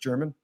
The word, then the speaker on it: German: And then they take on Franklin, and I believe it's German. It's pronounced German.